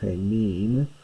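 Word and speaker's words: ἡμῖν: And you notice the funny, slightly different accent on, it's normally hemin. It's a different accent here because a short syllable is required for the meter.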